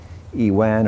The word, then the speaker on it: iwan: the foundations of the iwan or avon avon is the persian original persian pronunciation 1334 the iwan was